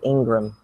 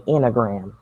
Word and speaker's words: Ingram: Oh, okay, Troy Ingram. It's so funny to me. Okay, he said Troy Enneagram. He saw Ingram, and to him it's spelled Enneagram.